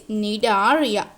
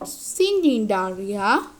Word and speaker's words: Cnidaria: We don't say C. C is the silent letter, that is Cnidaria, not Cnidaria.